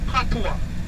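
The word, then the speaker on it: patois: creole that is called patua it's a french word it is spelled p-a-b-o-i-s fatwa now the quarter is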